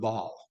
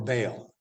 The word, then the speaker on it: Baal: over the priests of Baal or Baal. In English, we tend to use that long A, but other pronunciations are Baal.